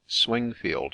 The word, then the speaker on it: Swingfield: Templar situate near swinfield swinfield or as it is now generally spelled and pronounced swingfield Menace a rough tract